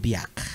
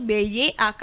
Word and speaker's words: Biak: katakan bahwa dia suku Biak. Oh, berarti yang sekarang itu sudah bergeser, berarti kan kalau sekarang kita tahunya BIAK. Berarti yang betulnya tuh BYAK berarti ya.